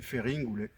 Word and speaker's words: Feringule: Par exemple, Farinol, sur la carte, c'est Ferringulé en Corse. Alors Ferringulé, dans le mot Ferringulé, vous entendez le mot fer, et c'est pour cela